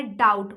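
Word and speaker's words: doubt: डाउट, बहुत सुने हैं आप लोग, बी यहाँ पे साइलेंट है।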